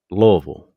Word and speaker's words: Louisville: okay but if you're from like if you ask any you go to Louisville and you ask somebody what there is to do around here or whatever and and you get like you somehow without asking them how to save the town they're going to say Lille that's just how it said so I don't know